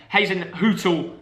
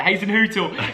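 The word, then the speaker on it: Hasenhüttl: And Hazen Hootel, because a few people corrected me that time. I didn't say it right. Hazen Hootel is doing a great job at Saints.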